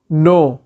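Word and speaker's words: know: जानना या जानकारी होना नो नो नो में के साइलेंट होता है जानकारी नॉलेज नॉलेज नॉलेज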